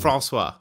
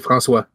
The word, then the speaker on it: François: So it's Francois. Non, c'est François. François? François. So it's Francois? François. François. François.